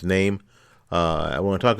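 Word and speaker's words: Noem: name is name right n-o-e-n-o-e-m is pronounced name uh i want to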